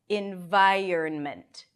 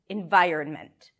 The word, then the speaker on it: environment: And then you end it the same way, ment, ment, ment. Environment, environment. However, there is another way that makes it even easier to pronounce, and that is without the N.